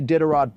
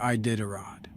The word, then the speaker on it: Iditarod: I don't see a Diderot propaganda, so I'm going to say a hard no. That's not how you say Iditarod.